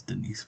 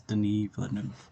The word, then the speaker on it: Denis: to discuss so for Denise uh sorry not Denise Denise the noof I'm gonna have to start remember that because I I've always thought it was Denise but it's Denise Okay so even though